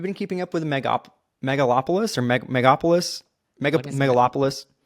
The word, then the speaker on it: Megalopolis: has funded um okay I need to make sure I pronounce this right megalopolis it is not an easy one but that is how you pronounce it the trailer came out